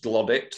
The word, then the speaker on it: Glodwick: Joseph Lees of the outlying village of Glodwick, pronounced Glodick locally. He was himself a handloom